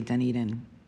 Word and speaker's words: Dunedin: Well, and just so you know, when we go to visit Toronto, which we do annually, they know how to say Dunedin.